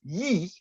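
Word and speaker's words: 一: Well, it's simply to do with the fact that in Chinese, the number 1, which is pronounced yi, is a single stroke.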